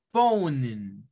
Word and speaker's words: phone: es para referirnos al teléfono bien se dice phone de hecho esta palabra tiene algo interesante y